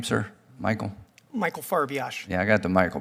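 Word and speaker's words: Farbiarz: do you say your name Sir Michael Michael farash yeah I got the Michael part okay uh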